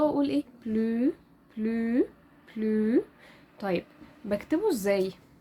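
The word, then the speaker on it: bleu: او دي هتودينا كده لقاعده نطق مهمه وهي ان حرف الاو والاو بيتنطقوا او كلو بلو فمهمه جدا القاعده دي نفضل فاكرينها ان حرف الاو والاو بيتنطق او بلو يبقى اللون الازرق بلو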